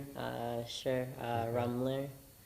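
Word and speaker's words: Rummler: Uh, Rumbler. Okay. Spell that, please.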